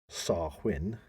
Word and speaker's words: Samhain: in modern times Wayne a Gaelic word pronounced sarwin okay so almost getting it right there it's half win SAR win for those